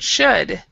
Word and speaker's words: should: okay so this word should we the l the l we don't say and so it's like should should so can you